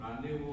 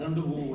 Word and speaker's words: rendezvous: The biggest relief was after lots of time, I learned that you don't have to use the word Z. I used to pronounce it as Zandavu and all that. When someone told me rendezvous, oh wow, good.